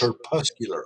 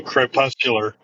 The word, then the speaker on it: crepuscular: pronunciation of that please it's her puscular okay by Crepes you know what a crepe you know what crepes are what crazy crayfish yeah you eat so crepuscular oh crepe puscular very popular okay